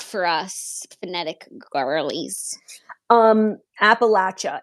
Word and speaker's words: Appalachia: this side of Appalachia which I learned is called Appalachia yeah we said it wrong Appalachia maybe larger Appalachia yeah